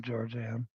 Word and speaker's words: Georgianne: Yeah, we need to track her down, Georgianne. More emphasis on the first symbol.